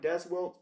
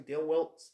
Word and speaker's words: Dale Wilkes: I almost called him Des Wilkes, but it's actually Dale Wilkes, the Patriot.